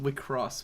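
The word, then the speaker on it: WIXOSS: It's pronounced Wicross.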